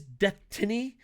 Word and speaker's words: Deathtiny: And yes, it is Deathtiny. It's Destiny with the word death in it.